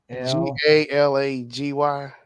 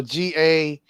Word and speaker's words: Galaga: How you spell it? G-A-L. Galagy. No, Galaga.